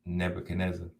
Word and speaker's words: Nebuchadnezzar: They pronounce it Nebuchadnezzar, but I used to say, because I didn't know how to pronounce it at the time.